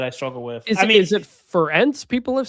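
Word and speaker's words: Ferentz: But you still get broadcasters and podcasters and journalists who call him Kirk Fen. Just remember Ference rhymes with parents.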